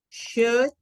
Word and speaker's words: should: Que ninguna se le pronuncia la letra L. Entonces, esta aquí, ups, se va a pronunciar como could, should, and would.